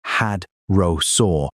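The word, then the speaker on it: hadrosaur: The prey animals in Hell Creek maxed out at around 4 to eight tons for a hydrasaur pronounced had rosaur called Edmontosaurus.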